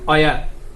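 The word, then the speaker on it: where: হবে, এটা হবে ওয়ার্ড, অর্থাৎ হটা উচ্চারণ হবে না, এটা উচ্চারণ হবে না, ডিরেক্টলি আপনার উচ্চারণ হবে ওয়াট। আর এটা অয়ার, এটা হচ্ছে ওয়াই, এটা হচ্ছে উইচ, এটা হচ্ছে অয়েন। এইভাবে আপনাদেরকে উচ্চারণ করতে হবে।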